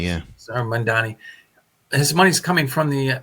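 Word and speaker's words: Zohran Mamdani: She actually today said that most of Mordani, how do you say his name? Zoran Mamdani, yeah. Zoran Mamdani.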